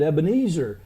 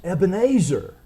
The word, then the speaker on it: Ebenezer: name Ebenezer we may pronounce it wrong we pronounce it Ebenezer it may be better pronounced Ebenezer it's a compound again Ebon meaning Rock an